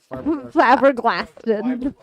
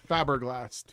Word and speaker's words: flabbergasted: Flabbergasted. Yeah, it's fiberglass, Cammie. It's fiberglass. No, it's not How do you say it? Faberglast.